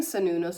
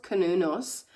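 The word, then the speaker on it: Cernunnos: So Sanunos, I keep saying Sanunos, it's pronounced Kanunos, also known as Herne, Herne, is a Celtic stag god who represents connection to the earth.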